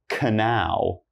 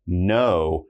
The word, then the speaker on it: know: So our first one here, this word is not canal, all right? That's horrible right there. What you want to do is you just want to think no, and you should know this is like, I know how to speak English, all right? These are the things you know how to do. It's not cano, we just know.